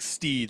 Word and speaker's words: Stede: That's probably not Steed, right? How else would you pronounce that? No, it's definitely Steed. It's very much like they wanted to call him Steve.